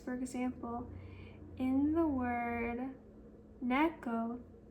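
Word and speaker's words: 猫: For example, in the word neco, ne has a higher pitch than co in the word enu.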